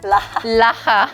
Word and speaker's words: LHA: Laha. That's how you say it in Korea.